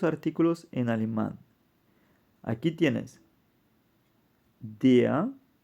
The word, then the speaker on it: der: en alemán aquí tienes DEA es masculino singular definido y se pronuncia aquí como una a de por ejemplo en español corresponde al artículo l el hombre femenino singular